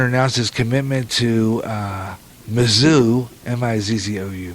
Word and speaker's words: Mizzou: announced his commitment to Mizzou, M-I-Z-Z-O-U, Mizzou, I guess that's how you say it.